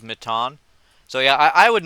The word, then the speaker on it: Matan: Um, if a cat I I I I just want to say like I So, so apparently how you pronounce his name is is is Mitan.